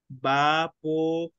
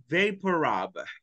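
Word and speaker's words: VapoRub: The correct pronunciation for this one in English is vapor, vapor, vaporab. So big vapor de vapor y rub de untar. So big vaporab.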